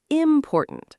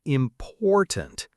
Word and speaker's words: important: Some learners say important, stressing the first syllable. But it's important.